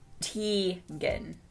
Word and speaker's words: Tegan: to see you live my name is tegan pronounced t gin i wrote it phonetically and i'm 11 years old there you go i was 11.